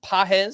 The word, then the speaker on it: Pages: and that's spelled p a GES but it's pronounced pz so for anyone uh wondering how toon pronounce